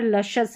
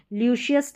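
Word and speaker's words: luscious: कॉन्शियस है, यहाँ पर लशस है, ल्यूशियस नहीं पढ़ना है, लशस है।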